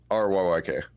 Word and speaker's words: Ryyk: The Reek Blade, and that's spelled R-E-E-K? RYYK.